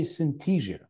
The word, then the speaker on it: Synthesia: So you say Synthesia. Yes. Right? Okay, great. I'll correct my pronunciation of the company name.